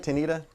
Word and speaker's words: Tanita: So basically, Am I saying it right, Tanita? Tanita is her name. We call her Tanita.